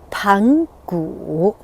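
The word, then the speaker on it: 盘古: Pangu, this is the correct pronunciation, and you will hear from other English version talking about Chinese mythology. They may pronounce it Pangu, Pangu, or something. It's Pangu.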